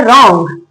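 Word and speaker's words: wrong: डब्ल्यू लिखा है आर हो तो डब्ल्यू साइलेंट रहता है। नेक्स्ट क्या है? रॉन्ग।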